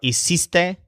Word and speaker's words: hiciste: You might recognize something familiar about hiciste, hicieron, and hicimos. They're very similar to the equivalent words in ir's closet. Remember fuiste, fueron, and fuimos. Hiciste rhymes with fuiste.